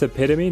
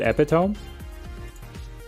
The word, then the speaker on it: epitome: epitome epitome epitome it's epitome not epitome this is why I